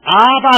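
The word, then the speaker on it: אבא: 그 사람들이 하나님을 보고 뭐냐면 아바 그래요. 아바. 여러분 이 아바라는 뜻이 뭐냐면 아버지 아빠라는 뜻이에요. 발음이 비슷하죠. 우리는 아빠, 그 사람들은 아바 이렇게 부르죠.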